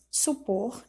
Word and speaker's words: supor: E a última, letra F, supor, e ela é uma oxítona.